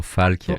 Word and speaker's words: Falke: Folk or Falk. Yeah. Falk.